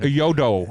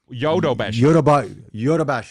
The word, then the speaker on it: Yodobashi: Yodo. I'm leading you astray. It's Yodobashi.